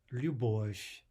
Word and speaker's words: Любовь: Любовь, любовь. There's the devoicing of a soft V to a soft F.